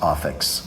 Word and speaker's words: Ofix: like, And again, it's spelled O-F as in Frank, I-X, Ofix. yes, office.